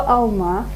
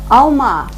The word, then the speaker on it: алма: Возьмем слово «алма», например, знакомое вам с прошлого слова, да? Алма. Какое А мы слышим четко? Алма. Первое. Алма. Последнее А, конечно, потому что находится под ударением. А первое произносится более Коротко. тускло.